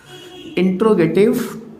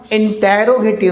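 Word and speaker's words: interrogative: और एक चीज़ ध्यान रखिएगा, इंटेरोगेटिव नहीं होता भाई, इंट्रोगेटिव। वो सुना हो ना वीडियो की स्टार्टिंग में इंट्रो लगाते हैं आप, ये वही तो है इंट्रोगेटिव प्रोनाउंस।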